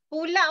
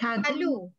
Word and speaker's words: Pulau: Pulau, eh? Not Palu. Pulau. Pulau. Pulau Pinang.